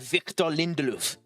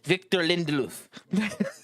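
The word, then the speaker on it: Victor Lindelöf: You have Victor Lindelof. There, I've done a pronunciation for you, you jackass. Victor Lindelof.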